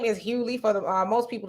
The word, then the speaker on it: Hughley: says his name is hughley for the most people the g is silent why does he pronounce the g in his name you got me cynthia